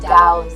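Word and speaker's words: Tao: were what eventually came to be known as taism and compm to what is it to understand what to is pronounced DM rhymes with now and Confucianism came to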